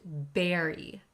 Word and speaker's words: bury: careful with pronun iation the first word looks like bur but it's pronounced Berry bury one's head in the